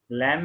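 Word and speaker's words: Lamb: लैम में बी नहीं बोलना, हमने LAM बोलना, बस बी साइलेंट।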